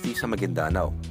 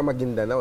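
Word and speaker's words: Maguindanao: e kay kay gob hindi pala magindanao an magindanao yun pa ang tamang pronunciation gob ah maging Dano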